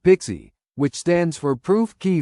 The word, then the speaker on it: PKCE: The PKCE flow pronounced Pixie which stands for proof key for code exchange begins when a user wants to authenticate with an application.